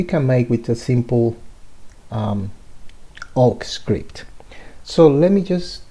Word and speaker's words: AWK: talk about a programming language called oak awk oak is um that's how you spell it awk okay it's a very